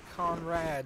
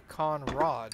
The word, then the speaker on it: conrod: She said, what you've been calling a Conrad is actually a Conrod.